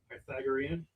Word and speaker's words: Pythagorean: uh the py py how do I say it Greg? Pythagorean pythagorean. I say it wrong. I always say it wrong.